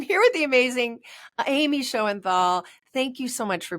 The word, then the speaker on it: Shoenthal: last name so you do it for me show and Thal show and Thal thank you I'm the worst at pronunciation with these things so I'm here with the Amazing Amy show and Thal thank you so much for being here today